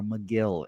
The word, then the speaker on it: Megill: Or McGill is actually pronounced here.